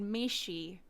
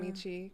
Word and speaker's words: Michi: or Michi but it's it's from my anime days that's why I pronounce it Michi because I see I